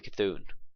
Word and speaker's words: Cthulhu: You buff your Cthulhu. That's how you pronounce it.